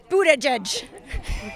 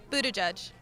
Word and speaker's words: Buttigieg: let me ask you this how do you pronounce his last name Buddha judge that's one all right very good thank you